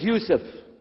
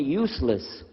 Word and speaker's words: Yusuf: work on it inah my name is Yousef did you say Yousef said Yousef you're very good I wish you teach my wife she keeps mispronouncing it she calls me useless alhamdulillah now how many